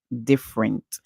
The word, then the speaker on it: different: and then and different so in different the E is actually silent we don't hear the song for the E okay this e so we he diff and rent different different you don't say different okay I know a lot of you might want to join the andr together to say ear no that would be incorrect so remember in different